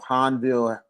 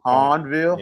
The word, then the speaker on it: Hahnville: does the Tigers of Hanville, if I'm saying it right, JB? Hanville. Horn Horn. Horn Hornville. Hornville.